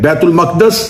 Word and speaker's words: بیت المقدس: چلیں بیت المقدس اس کا اصل تلفظ ہے جس کے تحت اس لفظ کو بولا جا سکتا ہے.